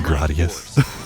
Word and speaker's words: Gradius: Okay, I did pronounce it correctly. I was worried. Is it Gradius? No, it's Gradius.